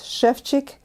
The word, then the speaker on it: Ševčík: If you notice that there are little thingies over S and over C, and they make them into sh and ch in Czech language. So it's Ševčík and Schradieck.